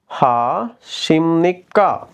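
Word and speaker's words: 안녕하십니까: எனவே இரண்டாவது பாருங்க சேம்தான் அன்யோங் ஹா ஷிம்னிக்கா இங்க பாருங்க இந்த இடத்துல ப இருக்குது சிம்னிக்கா அஞ அசிப்னிக்கா இல்ல ஏன்னு சொன்னா கொரியன் மொழியில சில பரும் பரம்னு சொல்றதான ஒரு உச்சரிப்பு முறைகள் இருக்குது எனவே இந்த இடத்துல நு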